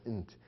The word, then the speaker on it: n't: And in between, we have the adverb not, which has been contracted to N''T, pronounced int.